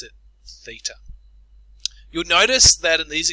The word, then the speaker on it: theta: this symbol it's a Greek letter and we pronounce it theta you'll notice that in these examples we're trying